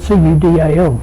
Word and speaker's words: Cudal: Just a few weeks ago I travelled out to Cudal, spelt C-U-D-A-L. Some people pronounce it differently.